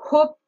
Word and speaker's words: hope: Que ce soit hope, hard ou hardly, on prononce bien le H.